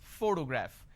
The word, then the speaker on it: photograph: this particular word photograph the correct pronunciation is photograph which means I am stressing on this particular syllable which is a first syllable please give me the